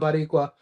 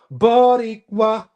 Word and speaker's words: Boricua: It's not Boricua. Boricua.